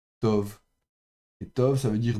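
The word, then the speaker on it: טוֹב: et puis leem et un B final B fricatif donc sans dagèche et ça ça se prononcera to et to ça veut dire bon.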